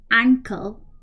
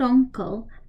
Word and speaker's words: ankle: shin Haley toes foot ankle not uncle ankle so open your mouth when you're saying uncle okay so ankle leg